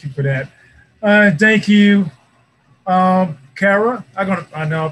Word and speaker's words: Kyra: Kyra, I know I pronounced your name wrong. Kyra, you're doing it right.